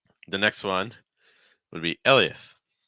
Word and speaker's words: Elias: And the next one would be Elias. Elias. 3 syllables.